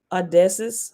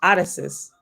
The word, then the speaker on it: Odysseus: revamp of caesar or odessa's hold on that is not how you say that name addison's how do you say that name i know how to say it odysseus okay was jesus a